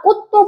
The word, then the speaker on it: 꽃도: 자, 그 다음에 오비나 꽃도 발음 어떻게 하니? 일단 디귿, 그지? 이렇게 한번 하죠? 그 다음에 어떻게 해야 돼요? 그러니까 쌍디귿으로 발음한다 이 얘기지. 그죠? 된소리 대기를 시켰습니다.